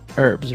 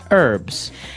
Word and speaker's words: herbs: Okay, so we can accept basically if somebody says herbs, but I guess in American English it's more commonly pronounced as a silent H.